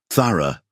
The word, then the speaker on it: Thara: Thara. Rylan repeated her name carefully, getting the emphasis right on the first syllable, like he actually cared about pronouncing it correctly.